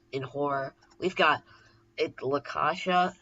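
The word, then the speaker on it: La Caccia: my favorite scores in horror we've got it lakasha it's that's how you say it in Italian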